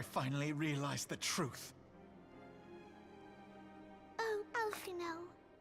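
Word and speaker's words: Alphinaud: Oh, Alphino. So the D in his name is silent, right?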